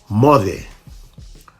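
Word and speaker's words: moce: Mothe. Mothe means goodbye. The C in Fijian is pronounced as th.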